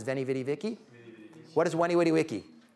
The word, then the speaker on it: Veni, vidi, vici: Julius Caesar writing from Gaul, 50-something years ago, Veni, Vidi, Vici. Anyone heard that? Mispronounced by Americans who don't know Latin as Veni, Vidi, Vici?